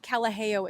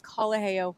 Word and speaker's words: Kalaheo: It's not Kalaheo, it's Kalaheo. I know.